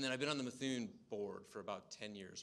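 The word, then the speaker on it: Mithun: around for 75 years that is how you pronounce the firm methun uh we've been through roughly four to five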